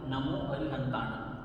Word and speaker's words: नमो अरिहंताणं: शब्द है नमो अरिहंताणं। आपको इसमें गौर करना है कि अनुस्वार को कैसे बोलना है। नासिका से बोलना है जिसकी साउंड ग की तरह आएगी, नमो अरिहंताणं।